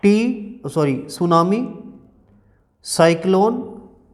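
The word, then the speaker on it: tsunami: को का पुष्प सुनामी सुनामी की स्पेलिंग देखो TV apps you एन ए एम आई थी साइलेंट होता है कि टीम सॉरी सुनामी साइक्लोन ए लैंडस्लाइड एक्स्ट्रा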